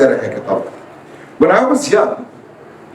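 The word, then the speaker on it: Jung: so that was वन ऑफ़ the writers और the second one is call यंग यंग it's written S जंग जे यू एन G pronounce S यंग call यंग यंग यंग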